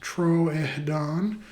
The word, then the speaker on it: Troodon: So, Troodon formosus, toe claw, pronounced Troedon formosus, means wounding tooth, full